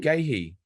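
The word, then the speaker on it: Guéhi: DB, do you like the sound of VVD to Gahey to fund the premium up top? VVD to who? Gahey, the Crystal Palace centre back. Oh, Gahey. That's how you pronounce it.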